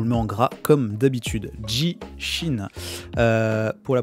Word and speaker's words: 地震: notre titre joue le mans gras comme d'habitude jishin pour la prononciation c'est ça jy chine première phase caisse